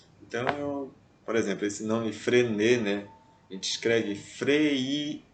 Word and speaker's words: Freinet: Então, por exemplo, esse nome Frenet, né? A gente escreve Freinet, só que não se pronuncia esse I, né? Porque há uma contração do E com I fica E. Frenet.